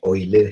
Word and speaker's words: Euler: Ia dinamakan sebagai Euler head. Walaupun ejaan dia adalah EULER, diharapkan pelajar boleh membunyikan tersebut, perkataan tersebut adalah sebagai Euler head.